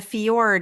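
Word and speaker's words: fjord: nice trip amazing um and a fiord you guys technically it's spelled FJ o r d and you guys probably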